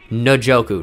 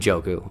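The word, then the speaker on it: Njoku: down out of Miami by the way that is how you say his name like there's Ndamukong Suh not in a democracy there's David no Joe ku not and Joe coup which is I don't know why it's like that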